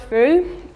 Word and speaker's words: feu: We have, for example, the word feu. The last three words are not, three letters are not pronounced.